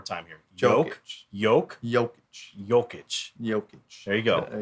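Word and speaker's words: Jokić: name one more time here joke yolk joking jokic joking there you go there you go nicholas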